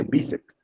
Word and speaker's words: bíceps: ¿Se dice bíceps o bíceps? Dice bíceps. Entonces, esa sílaba bi tiene que llevar tilde.